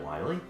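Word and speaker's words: Wily: dr really isn't it wiley no no they actually spelled misspelled in mega man 7 they call him dr willy but they pronounce it wiley well you know well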